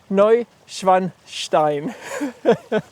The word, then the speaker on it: Neuschwanstein: I actually got a comment yesterday from my story on Instagram that I'm apparently the only one who can pronounce Noinstein Novine Noi Schwanstein but blew our photo of the lit castle from a slightly different perspective from where were yesterday.